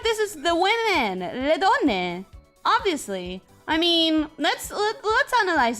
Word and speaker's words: donne: How do you say women, donna? Donne.